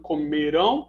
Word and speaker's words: comerão: Porque escreve diferente, mas se pronuncia de maneira muito próxima, só que a primeira é oxítona, a segunda é paroxítona.